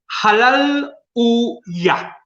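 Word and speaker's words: הללויה: Es una frase hebrea que literalmente, mi pronunciación hebrea es muy mala, pero literalmente sería esta: halal u ya. Halal u ya. Son 3 palabras.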